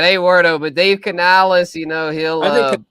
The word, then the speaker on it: Canales: But Dave Canales, he'll. I think Canales is gonna be a big. You gotta say it like this, Canales.